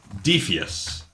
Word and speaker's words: Defias: you the pronoun in in Latin this would be pronounced as defus okay so if you